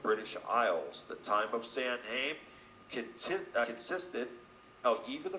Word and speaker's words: Samhain: Halloween is the name for the eve of Samhain, pronounced Samhain, a celebration marking the beginning of winter as